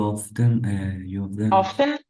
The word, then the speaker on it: often: You often Don't pronounce T.